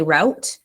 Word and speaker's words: route: people some people say root some people say route um I guess it depends on where you live and what your dialect is but I guess either